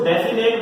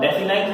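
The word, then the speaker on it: definite: हुए आ रहा हूं, कुछ लोग इसको डेफिनेट बोल देते हैं और डेफिनेट बोलने के चक्कर में स्पेलिंग लिख देते हैं ये, तो माय डियर फ्रेंड्स ये गलत होती है। ठीक है ना? मैं बोल रहा हूं डेफिनाइट आर्टिकल, इसी प्रकार से इंडेफिनाइट आर्टिकल।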